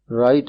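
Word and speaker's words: write: राइट एन ऐसे about your best friend. तीसरे जुमले में राइट का डब्ल्यू साइलेंट लेटर है।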